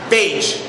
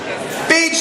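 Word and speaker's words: Bage: the pronunciation on that like Gage but with a B beige beige the pig give a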